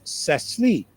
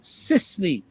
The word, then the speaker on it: Cicely: the presenters last night, her name I thought was Cecily, and she said no, it's Cicely. Cicely. And she said, if you want to correctly pronounce my name, remember the word precisely.